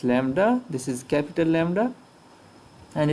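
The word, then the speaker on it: Λ: It looks a mirror image of V, but it's pronounced as lambda.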